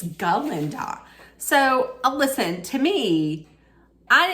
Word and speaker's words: Galinda: one who was like can't you pronounce my name right it's galinda so listen to me